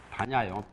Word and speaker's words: 반야: 반야요, 발음이.